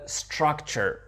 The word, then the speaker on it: structure: Le prochain mot qui était the structure, ok? C'est un mot français, structure, mais regardez comment il est prononcé. Structure, structure. Souvent, le T en langue anglaise, c'est une sorte de ch, de structure, ok?